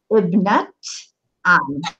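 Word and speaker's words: ابنة عم: And you'll notice that here on that Tamar Buta, I'm pronouncing it as the letter ta, Ibnat Am, okay?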